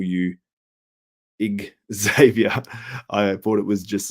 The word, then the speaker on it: Xavier: I think it's just because you see the X and you don't pronounce it like, I think you don't pronounce it like a Z, but it's pronounced like a Z, Xavier.